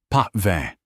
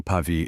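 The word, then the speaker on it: Pavie: "A Bordeaux, perhaps the uh chateau pve." He horribly mispronounced pave. Corin the sumelier gave a polite, tight-lipped smile. An excellent choice, Msure. The Chatau Pavei is a remarkable Sante Million.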